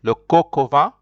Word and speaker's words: coq au vin: The coq, C-O-Q, is joined with O. That's why you'll hear something as if it is pronounced, all of it is pronounced together, le coq au vin.